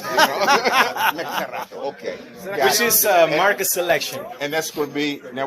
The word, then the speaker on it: Mercado: That's right, you gotta roll your R's. Mercado.